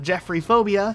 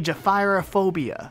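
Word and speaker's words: gephyrophobia: No, it's not Jeffrey Phobia, even though that'd be way easier to say. It's actually Jephyrophobia, and I'm still not absolutely positive on my pronunciation of that.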